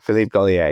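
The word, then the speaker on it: Philippe Gaulier: Is it Philipe Goria you pronounce his name? Your teacher? Yes, Philip Golier.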